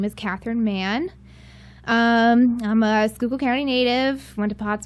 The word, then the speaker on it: Catherine Mahon: you did that because I'm very hard to pronounce last name my name is Kathryn man I'm a Google Kerry native I went to